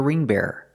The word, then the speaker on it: bearer: He's the ring bearer. Not the ring bearer, but the ring bearer. 2 syllables.